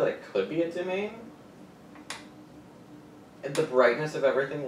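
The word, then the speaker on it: demesne: Demence. A demence. Domain is the actual pronunciation of the word.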